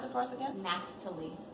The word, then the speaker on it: Naphtali: Now I don't know how to pronounce this one, so anybody jump in and tell me. The Napht. Naphtali.